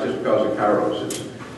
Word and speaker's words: Kairos: Kairos is a Greek word, and I've heard it pronounced a number of times. My ministers tend to pronounce it Kairos, or something like that, which is probably a correct Greek term.